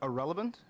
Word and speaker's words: Ahrelevant: no um i am irrelevant all right um the actual word irrelevant was taken and i like it so it's pronounced exactly like the word irrelevant like somebody is a nobody and yeah i'm a